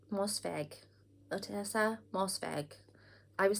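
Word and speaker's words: Ottessa Moshfegh: year of rest and relaxation by otessa mossev mosset mosfeg otessa mosfeg i was saying it in my head repeatedly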